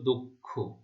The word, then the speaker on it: দক্ষ: সেটা হচ্ছে দ এর উচ্চারণ ও এর মতো হবে, হ্যাঁ? দ এর সাথে যে অ রয়েছে তার উচ্চারণ ও এর মতো হবে। তাহলে কি হবে? দক্ষ। এখানে একটু খেয়াল করে দেখো, এটা ক্ষীয়, ক্ষীয়র উচ্চারণ কিন্তু ক শব্দ খ এর মতো হয়।